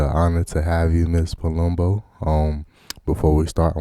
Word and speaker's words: Palumbo: right so today we have miss jennifer j palumbo from manhattan new york um did i say you're right did i pronounce it right you did i'm i'm you're